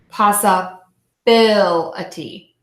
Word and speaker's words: possibility: Why impossibility? It looks like the stress is on the first syllable. Passa. Yeah. So possible, possibility.